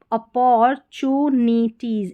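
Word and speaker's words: opportunities: यहाँ पर TU जो है अपोर, टू नहीं बोलेंगे इसको, अपोर टी का उच्चारण ट नहीं यहाँ पर, अपोर चू, TU को चू, NI नी और TIES टीज, अपॉर्चुनिटीज, इस तरीके से तोड़ना है स्पेलिंग को, अपॉर्चुनिटीज, अपॉर्चुनिटीज, TU का ध्यान रखना है, ठीक है।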